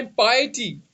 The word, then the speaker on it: piety: तो इसकी pronunciation PT नहीं है, इसकी प्रोनाउंसिएशन है पाइटी।